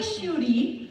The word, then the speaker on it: Schuette: It's Shute, and it's spelled. Okay, it's all good. Everybody gets it wrong. It's Schuette.